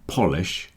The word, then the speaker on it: polish: In the first word we got po, so the O sounds like the O, because the stress in polish is at the beginning.